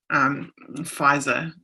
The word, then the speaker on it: FISA: oversight in the world of FISA? Pfizer, as Americans say, Pfizer courts and stuff, whatnot.